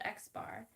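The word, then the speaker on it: x̄: The sample mean is referred to as a line over x, pronounced x bar.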